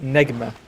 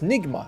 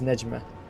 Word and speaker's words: Nigma: Yeah, because it's supposed to mean star in Arabic and it's pronounced as Nejma.